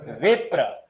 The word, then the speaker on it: विप्र: बाद में सीखेंगे लेकिन य उच्चारण कैसे होता है वो बता रहा हूं यह भी प्र वास्तव में प आधा है र पूरा है देखो वि प्र प के बाद कौन आ रहा है र तो इस र में